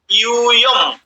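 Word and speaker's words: যূয়ম্: ইউবাম রস্যুকার আছে, আর ইউয়ম দীর্ঘকার আছে। দীর্ঘকার থাকলে দীর্ঘ উচ্চারণ হবে।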